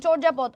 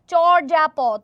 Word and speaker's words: চর্যাপদ: আচ্ছা, এটার যে উচ্চারণ চর্যাপদ, অনেকে এটা উচ্চারণ করে হচ্ছে চর্যাপদ, কিন্তু এটার উচ্চারণটা হচ্ছে চর্যাপদ, ঠিক আছে? এটার উচ্চারণটা হচ্ছে চর্যাপদ। ওকে, চর্যাপদ, চয় ওকার উচ্চারণ করার সময় এটা চর্যাপদ হবে।